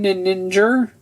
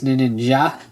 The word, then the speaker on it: ninja: do also just cuz I think ninja sounds better than Niner and the way it's pronounced in Japanese is ninja so the J just sort of makes more sense um I do realize